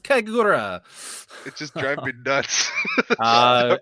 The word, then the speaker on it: Kagura: It's pronounced Kagura, Senran Kagura.